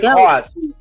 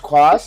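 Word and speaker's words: Cuas: Well, they're going to get rid of Jose Cos. It's pronounced Quas, and here's the first pitch in there for a strike.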